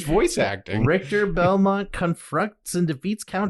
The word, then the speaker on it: Richter: to play where uh is it writer or Richard no it's Richter all right they say his name oh yeah the game multiple times it's voice acting Richter Belmont confronts and defeats